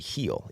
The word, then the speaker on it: Gil: Uh his name is actually heel. Even though it's spelled Gil, it's heel.